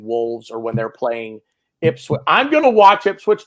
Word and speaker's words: Ipswich: Okay, it is Ipswich.